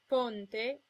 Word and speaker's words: ponte: Most of the time, O and E are pronounced closed. O as in ponte, and E as in nero. If the O or the E is in a stressed syllable, it's sometimes pronounced open, O as in donna, and E as in senza.